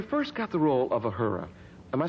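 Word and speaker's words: Uhura: commander when you first got the role of a hura am i saying it right a hurricane what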